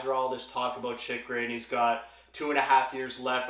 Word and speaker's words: Chychrun: it's a bit difficult, but yes, it is pronounced Chychrun.